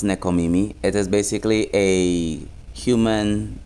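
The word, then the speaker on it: nekomimi: I did some diing and yes it is pronounced necomimi it is basically a human cross animal type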